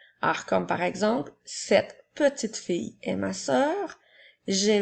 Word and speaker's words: petit: J'utilise le mot petit lorsque le mot est au masculin. Alors, il s'écrit P-E-T-I. La dernière lettre T est une lettre muette.